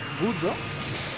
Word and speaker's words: Guldo: Guldo. Según yo era Gurdo, pero bueno... Guldo cambian las pronunciaciones del japonés al español.